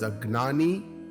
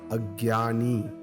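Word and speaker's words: अज्ञानी: In Shastra, one who has not reached the spiritual goal is an ignorant person called agnani, pronounced as agnani or agyani.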